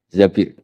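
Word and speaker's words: زَبِير: Di hadis ini bukan bacanya bukan Zubair, tapi Zabir. Abdurrahman bin Zabir.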